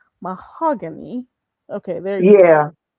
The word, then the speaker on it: Mahogany: Did I pronounce that right? Mahogany.